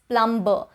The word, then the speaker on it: plumber: It is oftenly mispronounced, especially in India, as plumber. People don't realize that the B in this spelling is silent. So it would be plumber and plumbing and not plumber and plumbing.